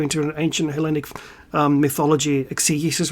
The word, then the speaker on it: exegesis: an ancient Hellenic mythology exegesis right now? Yeah, by the way, you Bible fuckers who want to use our words, that's how you pronounce it. Exegesis, not exegesis. Right?